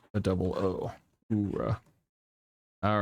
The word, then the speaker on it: Ura: The U is pronounced like a double Ora.